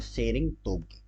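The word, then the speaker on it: Tshering Tobgay: क्या नाम है इनका इनका नाम है शेरिंग तोके शेरिंग तोके टी प मत जाना टी साइलेंट ऐसे पढ़ा जाता है इनका नाम शेरिंग तो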